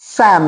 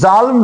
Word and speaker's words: Psalm: অফ a certain short স্যাম, দেখো PSALM স্যাম লেখা আছে, উচ্চারণ কিন্তু জালম নয়, PSALM স্যাম।